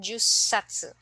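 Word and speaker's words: 十冊: then 10 okay so first we have isatu then for eight hasatu and then 10 ju satu so again please take note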